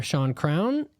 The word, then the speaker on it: Sean Crowne: For people who don't know you, you are Sean Crowne and your partner, Ashley Campbell, co-founded Nicoco Hawaiian Gelato.